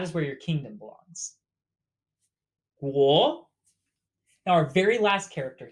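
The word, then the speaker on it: 国: This character means country or kingdom, pronounced guo, ge, wo, guo, wo, guo, kingdom.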